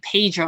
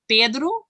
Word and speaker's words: Pedro: And I don't want to say it like a Brazilian because it's not also correct either. But it's really hard to not say Pedro and say Pedro. It's really hard because I have grown up saying Pedro.